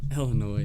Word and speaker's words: Illinois: When you say Illinois, the S at the end is silent. Illinois, yeah.